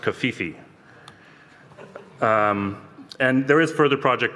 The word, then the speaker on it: CFEE: In terms of Stratos, you know, being used by IBM in their Cloud Foundry Enterprise environment, that's CFEE, which I believe is pronounced Kafifi.